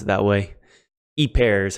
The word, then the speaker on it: ὑπέρ: now if you're using a Rassman you probably pronounced it who pair who pair i don't pronounce it that way each pair is how i pronounce it in the genitive